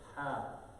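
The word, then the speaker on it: ح: So this letter, ha. Ha without the dot we're talking about, okay? The ha without the dot. This comes from the middle of the throat.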